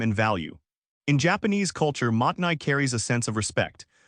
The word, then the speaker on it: mottainai: The word is Mottainai, pronounced Mottainai.